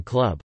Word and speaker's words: klub: For example, the B in club, club, is pronounced like a P, and the RZ in PRZE sounds like SZ.